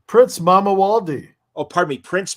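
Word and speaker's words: Mamuwalde: Prince Mamawaldi. Oh, pardon me, Prince Mamawaldi. Very cool. He never made it to the king stage yet. Count Dracula thwarted that. Spoiler alert. But yeah, Prince Mamawaldi.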